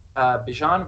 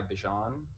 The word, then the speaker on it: Bijan: Bijan Robinson. Can you spell that?